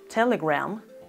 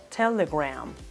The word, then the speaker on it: Telegram: estoy hablando de instagram ambas palabras telegram e instagram tienen la misma pronunciación en la última sílaba rama no se pronuncia a gramo con a si no se pronuncia graham instagram telegram telegram instagram yesterday and